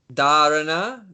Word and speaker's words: Dharana: Dharana, dhyana, and samadhi.